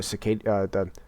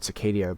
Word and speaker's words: Cicada: performs is, like, the Cicada, I almost said Cicadia, but that's not the right word.